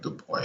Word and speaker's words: Du Bois: Du Bois, the French would pronounce it Du Bois. I think I did mention this in my other video about him as well. You know, I googled up the correct pronunciation, the American pronunciation.